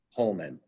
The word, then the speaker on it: Hohman: And at the time, he was called Johannes Homan. And Homan, by the way, is spelled Hohman.